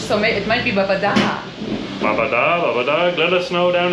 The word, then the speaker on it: Babadağ: pronounce Babadağ wrong, because I think that it has the thing on the G, doesn't that mean that the G is silent and the letter in front of that is kind of stretched?